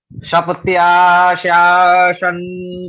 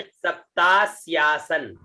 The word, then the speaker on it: सप्तास्यासन: जी गुरुजी, सप्त्याशासन परिधाय स्त्रीः, इसको उच्चारण करिए, सप्तास्यासन।